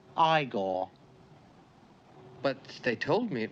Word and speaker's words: Igor: i see you must be igor no it's pronounced igor but they told me it was igor well they were wrong then weren't they of